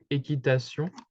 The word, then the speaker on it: équitation: So usually when you see a word in French which has the Q and U, it would be pronounced as the letter K. So like équitation, okay? And for the last part with the T-I-O-N, it's basically like a S, okay?